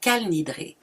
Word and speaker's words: Kol Nidre: De plus, il se prononce Kal Nidre, car il y a des différences importantes de la prononciation de l'hébreu entre les ashkénazes et les séfarades.